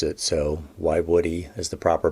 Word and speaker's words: Woiwode: to pronounce it i was told how to pronounce it so why woody as the proper pronunciation at least that's my